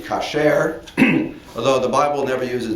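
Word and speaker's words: כשר: But in biblical Hebrew, the word would be kasher, although the Bible never uses this word with connection with food.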